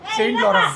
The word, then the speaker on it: Saint Laurent: how do you pronounce it? Saint Laurent।